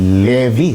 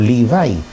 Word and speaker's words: Levi: So in Matthew 99 eh ang mention ho talaga doon ay si Mateo, si Lucas Levi or Livi sa bigkas engles o bigkas ng mga hebreo.